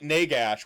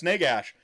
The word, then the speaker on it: Nagash: Like I pronounced it Nagash when accepting my trophy.